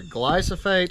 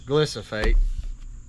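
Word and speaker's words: glyphosate: want to pronounce it the main ingredient is either glycate or glycate really pronounce it however you want it does the same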